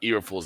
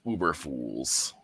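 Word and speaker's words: Eberflus: It's not Eberfools anymore, it's Uberfools. Yes, say it right.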